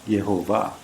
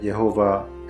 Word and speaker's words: Yehovah: For the purposes of this presentation, I will try to pronounce it to the best of my non-Jewish ability using the Masoretic pronunciation, Yehovah.